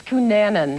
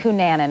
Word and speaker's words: Cunanan: katie first of all are we pronouncing his name correctly it's cunanan cunanan okay thank you for clarifying that what can you tell us